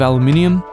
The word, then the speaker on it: aluminium: made largely out of aluminium and i made sure to pronounce that correctly for all you americans out there the finish is a